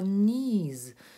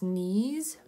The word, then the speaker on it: knees: Ми оцю початкову «кей» не вимовляємо.